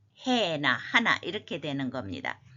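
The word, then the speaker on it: ἕνα: 단 한 번이라도 딱 주는 그 행위를 한다면 이 작은 자 중 하나에게 to one of these little ones 해나 거친 순표 때문에 해나라고 읽습니다.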